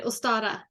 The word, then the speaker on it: Ostara: coming up yeah or ostara say say it again it's o-s-t-a-r-a interesting how do you say it in in Swedish I think I think I would say ustara okay all right same